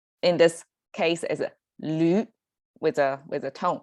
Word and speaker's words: 驴: That's our pronunciation vowel as U, like in this case is a 驴 with a tone, right? So it's a 驴.